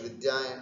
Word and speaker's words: विद्या: तो विद्या शुद्ध उच्चारण करना है इसका भी। कुछ विद्यार्थी इसको विद्या बोलते हैं, विद्यालय, विद्या इति न, धकारः नास्ति अत्र, दकार, विद्या, विद्या इति, ये सब आकारांत स्त्रीलिंग शब्द हुए, है ना।